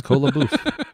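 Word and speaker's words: Kola Boof: Did you pronounce Shia LaBeouf wrong? No, it's Cola Boof.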